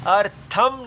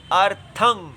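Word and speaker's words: अर्थम्: देखेंगे तम एव अर्थम यह जो बिंदी होती है इसको अनुस्वर कहते हैं हम भी इसको गलत पढ़ जाते हैं आदत पड़ी हुई है अर्थम नहीं पढ़ना चाहिए अर्थम इसका उच्चारण में नासिका से ही वायु निकलनी चाहिए मुंह से नहीं निकलनी चाहिए इसलिए अर्थम म अगर आ जाए तो वो मु और नासिका दोनों से हो जाती है लेकिन अगर केवल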